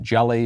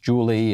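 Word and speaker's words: Jully: name is spelled j-u-l-l-y i believe and they pronounced it jelly or something but it's really pronounced julie and that's this is a big problem every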